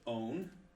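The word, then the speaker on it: אוֹן: This one would be pronounced own, kind of like our own O-W-N word.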